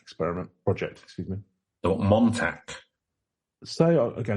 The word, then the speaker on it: Montauk: the modern fact experiment project excuse me or Montauk so again it's gonna be another one I pronounce it's wrong but m o n t